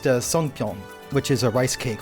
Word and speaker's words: songpyeon: And then I believe pronounced songpyeon, which is a rice cake for the Korean Thanksgiving Day.